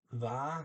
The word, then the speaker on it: Hva: It's HVA. The H is silent.